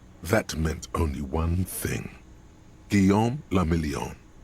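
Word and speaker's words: Guillaume Le Million: Guillaume la Million. If it doesn't rhyme, you're not pronouncing it right. Guillaume la Mignon.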